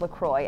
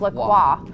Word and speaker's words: LaCroix: full of Lucroy yeah we just pronounced Lacroix unfortunately even though she should be pronounced Lacroix um whatever anyway so